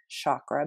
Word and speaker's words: chakra: Sanskrit word from India it's cha C H sound a lot of people think it's chakra but it's actually chakra and it's spelled c h a k r a there's seven main ones